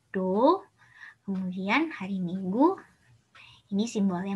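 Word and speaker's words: 土: Kemudian hari Sabtu, ini tanah. Bacanya Do.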